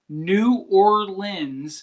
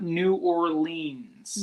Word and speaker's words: New Orleans: So, New Orleans is pronounced New Orleans, not New Orleans.